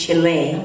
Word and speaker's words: Chile: I used to say Chile, but she said, no, it's Chile.